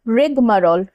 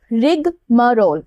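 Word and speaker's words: rigmarole: रिगमरोल, रिगमरोल ऐसे प्रोनाउंस करना है, ठीक है।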